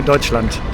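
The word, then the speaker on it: Deutschland: Oh, and in Germany, we don't say Germany, we say Deutseland.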